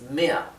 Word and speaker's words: mehr: Recuerden entonces que la R final se pronuncia de forma casi imperceptible. Por eso no escribí en la transcripción fonética mer, es mea, como si terminara en A. Lo mismo que besser, ¿bien?